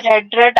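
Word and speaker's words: read: लेकिन जो एंड वाली दो यानी कि वर्ब की सेकंड और थर्ड फॉर्म है उसको हम पढ़ने में रेड रेड आता है।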